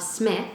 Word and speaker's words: Psmith: get the world of smith the p is silent it's like pterodactyl you know it's funny when i say leave it to smith like i can see